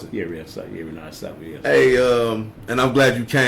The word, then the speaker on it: Renard Safo: Is that how you pronounce it? Yeah, Renard Safo, yes.